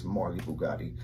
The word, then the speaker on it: Marlybuggotti: So everywhere on any platform you have to look for me, it's Marlybuggotti. And that's Bugatti with B-U-G-O-T-T-I as well. Okay. And Marley is spelled M-A-R-L-Y. So not the E.